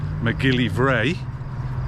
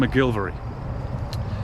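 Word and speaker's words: McGillivray: mcgilvery and you know he' be forgiven for pronouncing it penina and mcgilly vay based on how they are spelled but I know some of my viewers like me to pronounce things correctly so it's Pina and mcgilvery and I shouldn't really complain I mean you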